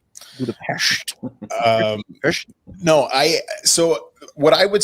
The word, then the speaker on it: Budapest: First and foremost, it's pronounced Budapest. Budapest.